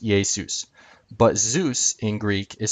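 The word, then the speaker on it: Ἰησοῦς: Jesus in Greek is spelled Iesius. This letter is, the I-looking letter is iota, this is eta, this is sigma, this is omicron, this is upsilon, and then the last one is just another form of sigma. So this is one form, this is another form, same letter, and it's pronounced Iesius.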